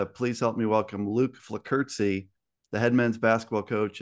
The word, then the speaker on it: Flockerzi: have to ask you, I feel like I'm saying it right if I say Flockerzi. There's kind of like a little T kind of thing that happens at the end there, even though there is no T.